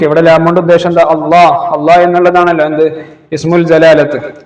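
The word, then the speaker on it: الله: നാമം ഉച്ചരിക്കുന്നതിന് രണ്ട് രീതികളുണ്ട് ഈ നാമത്തിലെ ലാം എന്ന അക്ഷരത്തിലാണ് ഉച്ചാരണ വ്യത്യാസം നമ്മൾ അള്ളാ എന്ന് എഴുതുമ്പോൾ രണ്ട് ലാം കൂട്ടിയിട്ടാണല്ലോ എഴുതുന്നത് അള്ളാ എന്ന് ഒരാൾ പറയുമ്പോൾ തന്നെ അതിന്റെ മഹ്റജ് എവിടെയാണ് ലാമിന്റെ മഹ്റജാണ് പല ആളുകളും അള്ളാ എന്ന് പറയുമ്പോൾ പല്ലിൽ തട്ടി പറയാറുണ്ട് അത് ശരിയല്ല അത് തെറ്റാണ് അള്ളാ എന്ന്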